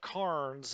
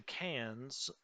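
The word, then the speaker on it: Cairns: how you say it i do know that what looks like carns is actually cans um okay uh this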